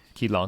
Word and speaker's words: Qileng: Aori Qileng, I believe. Qileng? Aori Qileng? That's right. Qileng? Qileng.